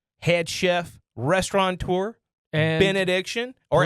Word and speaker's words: Benaddiction: tour and benediction or as Elliot calls it benedictions which is weird because you got add put the S on there man because you gotten addictions to those bands my my all-time favorite benediction mispronunciations are the s that people love to add onto the name I also really enjoy